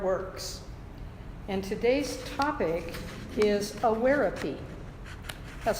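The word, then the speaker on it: Awareapy: And today's topic is awarepy. That's spelled A-W-A-R-E-A-P-Y, awarepy.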